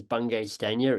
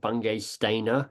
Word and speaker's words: Bungay Stanier: So I often go, look, my name is Bungay Stanier. It's not Bungay Stainer. It's not Banging Spaniel, which is a letter I once got.